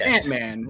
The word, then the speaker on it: Antmann: Okay, it's Antmann.